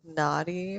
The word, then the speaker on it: Noddy: It's spelled Noddy, but like when your 5-year-old asks you to put Naughty on the TV, it Yeah. doesn't sound good.